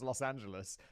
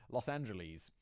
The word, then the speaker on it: Los Angeles: in Los Angeles California I used to pronounce Los Angeles Los Angeles because that's how British people say it and I everyone was